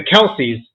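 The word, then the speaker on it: Kelce: I cheer for but for whatever reason the Kelsey everybody loves them nope it's don't matter what team they're on it's pronounced Kel guys it came out this past week Kel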